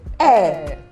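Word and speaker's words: heir: you get that uh-huh so when you're when you want to pronounced a word that spells h-e-i-r you don't say hey what you say is e that's because the letter A the word is silence okay then we also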